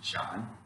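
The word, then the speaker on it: 山: this is a character for mountain but the pronunciation is john this is a picture of a bird okay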